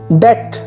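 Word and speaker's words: debt: Next one इज डेट लिखा हुआ आपको डेबिट नजर आ रहा है या डेब्ट कुछ लोग इसको बोलते हैं, बी इसमें साइलेंट है, आप इसको डेट बोलेंगे, डेट डेट।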